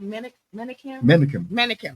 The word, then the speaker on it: Menakem: How do you pronounce it? Menakem.